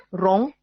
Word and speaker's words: rond: Rond, R-O-N-D. Bacanya rond.